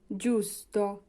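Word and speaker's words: giusto: পত্রিকা জি এর পরে আছে ইউ হবে জু জুসত জুসত মানে হচ্ছে সঠিক আশা করি এতটুকু আপনারা বুঝতে পেরেছেন। এবার আসি জি এর উচ্চারণে গ এর উচ্চারণ হয় কোন সময়।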